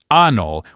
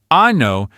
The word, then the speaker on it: anno: If you pronounce the word anno with a long, open ah sound, you are, well, let's just say you're referring to a certain part of the human body.